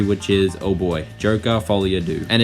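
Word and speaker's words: Folie à Deux: is oh boy Joker fol your do and it is fol do not Folia duk as I used to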